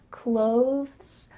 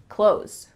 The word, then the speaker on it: clothes: a little bit slower they might add a th sound clothes clothes you see how my tongue comes out a little bit for that th clothes but really when we're speaking quickly it just sounds like clothes clothes and then we have